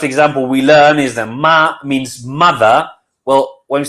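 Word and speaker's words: 马: Ma with it's called a third tone, with a tone that goes down and then comes up, is horse.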